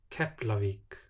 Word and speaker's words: Keflavík: Before L or N is pronounced like P. Keflavík, efni.